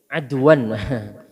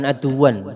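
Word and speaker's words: عَدْوًا: Ini tulisannya ada ain dal wawu ya, adwan. Adwan bacanya adwan Pak, jangan aduan. Kalau aduan maknanya musuh, bacanya adwan.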